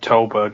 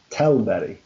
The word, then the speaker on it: Tällberg: Alright, well I know for a fact his pronunciation of Tällberg is wrong. Go on then, how should it actually sound? Tällberg.